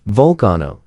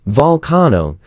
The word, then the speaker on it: volcano: In fact, Webster decided that the proper pronunciation was vulcano, just as in the German word vul meaning people.